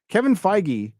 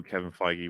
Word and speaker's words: Kevin Feige: No, I remember people didn't know who Kevin Feige was, and when he was first becoming like better and better known, the funny pronunciations would be like Kevin Feige, Kevin Feige.